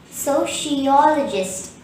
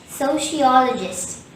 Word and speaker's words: sociologist: adjective form for sociology the word sociologist has five syllables so she all a gist the third syllable all is stressed and there is one shrine in this world therefore the correct pronunciation would be sociologist sociologist repeat after me sociologist sociologist in conclusion a sociologist